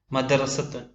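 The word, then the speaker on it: مدرسةٌ: എഴുതുന്ന രൂപം വലതു ഭാഗത്തായി മദ്രസത്തുൻ എന്നതിലെ ഓരോ അക്ഷരത്തെയും നാം കൊടുത്തിട്ടുണ്ട് ഇടതു ഭാഗത്ത് അത് കൂട്ടി എഴുതുന്ന രൂപവും മദ് റ സത്തുൻ മധ്യത്തിലായി അവയുടെ അർത്ഥവും മദ്രസത്തുൻ മദ് റ സത്തുൻ അവയുടെ ഉച്ചാരണം നാം മലയാളത്തിൽ താഴെ ആ പദത്തിന് താഴെയായിക്കൊണ്ട് അവയുടെ ഉച്ചാരണം ഞാൻ എഴുതിയിട്ടുണ്ട് മദ് റ സ തുൻ ഏകദേശ ഉച്ചാരണമാണ് മ ദ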